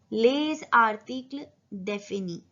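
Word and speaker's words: les articles définis: यहाँ पे लिएजो बनेगा क्योंकि जो ले है, जो एस है वो साइलेंट है और जो नेक्स्ट वर्ड है वो वॉवल से स्टार्ट हो रहा है। तो यहाँ पे एस प्रोनाउंस होगा पर इसका साउंड चेंज हो जाएगा और वो हो जाएगा ज।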